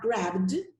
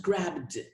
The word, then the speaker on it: grabbed: the second example grab grabbed i make the d sound i do not say grab it just grabbed in the third and